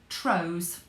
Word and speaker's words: trows: They were called trows. It rhymes with crow or grow.